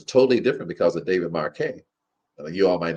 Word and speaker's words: Marquet: It's by David Marquette. Or it's the way you spell his name is like Marquette, but you pronounce it Marquet.